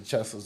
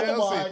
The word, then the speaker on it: Chelsea: I'll put the Cheslers on, the Chesler boots, and step around with it.